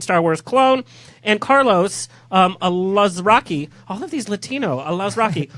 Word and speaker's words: Alazraqui: And Carlos Alazraqui. All of these Latino. Alazraqui. Jorge, help me out. How do you say that? I have no idea. Alazraqui. I love Rocky.